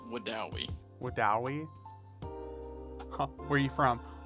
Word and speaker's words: Wedowee: Wedowee? It is actually called Wadawi.